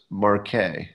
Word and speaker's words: marque: Oh, somebody's telling me it's pronounced Marque, letter of Marque.